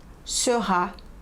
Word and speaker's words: Seurat: Pronúncia dos nomes: Renoir, Sisley, Cézanne, Monet, Klimt, Degas, Seurat, Gauguin, Toulouse-Lautrec, Munch, Vincent van Gogh.